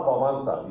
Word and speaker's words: Wałęsa: Then La Wałęsa, you pronounce his name as that, but he was a famous Polish leader who was the Solidarity leader.